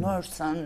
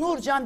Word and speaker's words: Nurcan: Orada adım ne evrelerden geçti? Nursan, Nurkun. Bir Nurcan dedirtmeyi başaramadım.